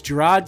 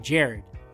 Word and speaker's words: Jared: She said, is Gerard here? And I came in and I was like, yeah, but I'm Jared.